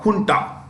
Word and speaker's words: junta: small group is called Junta it's pronounced with an H written Junta okay so